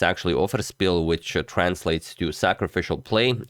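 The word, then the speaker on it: Offerspill: you guys said that I've been mispronouncing it like it's German I've been saying oh freshpiel but it's actually overspill which translates to sacrificial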